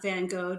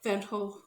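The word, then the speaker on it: Van Gogh: the you know the textural paint application that van go did or how do you all say van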